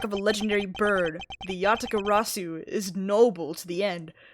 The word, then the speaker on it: Yatagarasu: the Yatagaratsu. I'm putting a T in there at the end. Yatagarasu. Okay. The Great Thief Yatagarasu. Interesting. Under the mark of a legendary bird, the Yatagarasu is noble to the end.